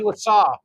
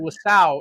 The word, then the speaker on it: Lasaw: Yes, Lasaw. Yeah. I've been saying it wrong. I've been saying Lasau, and it's Lasaw.